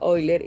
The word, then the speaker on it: Euler: Sí, sé que se escribe Euler y sé que en general en habla hispana le decimos así, pero pues yo aprendí que en su idioma original se pronuncia Euler y simplemente no puedo dejar de hacerlo.